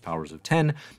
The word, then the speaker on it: Powers of X: of 12 but unfortunately the X offices insistence that powers of X is pronounced powers of 10 and X of Swords